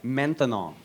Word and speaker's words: maintenant: That's right, maintenant. Maintenant. 3 syllables.